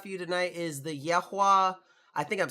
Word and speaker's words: Yahua: Yahua. I did say it right. Yahua.